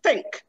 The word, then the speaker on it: think: The first one is think.